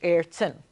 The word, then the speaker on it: Ayrton: So I go, Ayrton. Tin. But it's actually Ayrton.